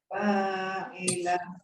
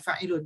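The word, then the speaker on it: فاعل: Cara bacanya disukun aja semua. Jadi enggak dibaca fa'ilun, tapi fa'il.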